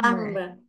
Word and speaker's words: plumber: plumber, plumber, Silent B. plumber, plumber, Yeah. Plumber. plumber. Yes. Okay, so in here, the letter B is silent, but the spelling is still the same.